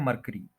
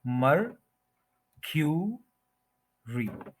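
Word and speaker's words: mercury: क्यू री मरक्यूरी मरकरी यानी कि यह जो यू है इसको क्यू बोलेंगे मर क्यू री मरक्यूरी मरक्यूरी मरकरी नहीं बोलेंगे यह गलत है मरक्यूरी थ्री सिलेबल्स है फर्स्ट के ऊपर स्ट्रेस है मरक्यूरी ये आप सुन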